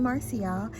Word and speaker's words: Marcy: marcelina but um you can call me marcial it's m-a-r-c-y if anybody wants to know how to you know spell that so thank you for opening up that